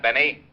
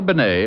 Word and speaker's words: Bennet: It's pronounced Benet, not Benny.